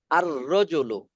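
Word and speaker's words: الرجل: দেখছেন এখানে লামের উচ্চারণ হয়েছে আল তিলমিজু না আত তিলমিজু। আত্তিল মিজু। আত তিলমিজু, আর রজুলু, আর রজুলু, আস-সাআতু, আজ-জাহরাতু, আত-তিফলু।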